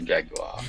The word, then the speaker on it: Jaguar: At least you say it properly, a Jaguar.